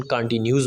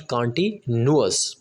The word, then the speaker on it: continuous: अक्सर स्टूडेंट्स इसकी pronunciation कॉन्टीन्यूस बोलते हैं, प्रेजेंट कॉन्टीन्यूस टेंस। इसकी ठीक प्रोनाउंसिएशन जो होती है वो होती है present कॉन्टीन्यूअस, present कॉन्टीन्यूअस tense.